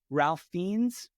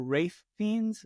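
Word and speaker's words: Ralph Fiennes: Domingo and sing sing Ralph fiends or wraith fiends I think it's why you say his name conclave Sebastian Stan and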